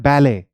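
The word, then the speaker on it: ballet: अब आप देखें सिमिलैरिटी में, इसे हम कहते हैं बैले, बहुत लोग इसे बैलेट कहते हैं। एक फॉर्म ऑफ डांस है, ठीक है, बैले डांस। तो इनको बोथ बैले, ठीक है, इसको बैले ही कहा जाता है, बोथ ब्रिटिश इंग्लिश में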